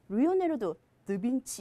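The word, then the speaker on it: Leonardo da Vinci: 그것도 리오네르도 드빈치 하시면 돼요.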